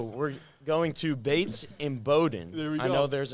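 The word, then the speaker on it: Bowdoin: All right, so we're going to Bates in Bowden. I know there's it's pronounced Bowden.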